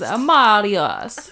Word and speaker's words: Marius: I'm like, no, I think that it's Marius. You just say it like that.